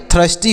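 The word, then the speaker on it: thirsty: एस टी वाई तो टी एच से thaw पढ़ेंगे आई से अ पढ़ेंगे आर से र पढ़ेंगे एस से आधा स टी से ट और वाई से बड़ी की मात्रा और यह जो र है यह ऊपर ऐसे लगा देंगे यह हो गया टी एच आई आर एस टी वाई थस्टी हो गया और थस्टी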